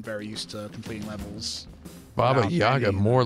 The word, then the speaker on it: Baba Yaga: So one of them is, so to become the Baba Yaga or Baba Yaga. Sorry, I always mispronounce it. It's which should have been a rapid fire question. Baba Yaga.